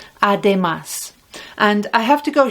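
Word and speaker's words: además: more you can say ademas look it's got the accent on the ah ademas and i have to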